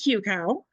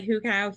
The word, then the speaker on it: hucow: do you say it I say it hucow but it doesn't matter to me if you say Huka hucow it doesn't matter